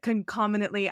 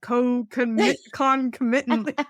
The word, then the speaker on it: concomitantly: pronounce what is it concomitantly I I always said Co concommittant I never use the word